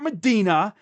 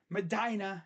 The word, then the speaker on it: Medina: That's how their people say it up there. The people that live there, that's how they say it. Medina, not Medina. They ain't playing in Israel or Saudi Arabia or wherever the holy site is. Next to Mecca, it's Medina.